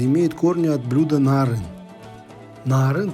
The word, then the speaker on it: Naaryn: корни от блюдо нарын naar een произносится с двумя а не путать с узбекским блюдом narin narin состоял из мелко на